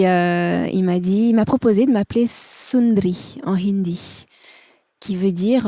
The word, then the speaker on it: Sund'Ri: Donc on a enlevé le A pour que ça se prononce Sundri ou Sundri.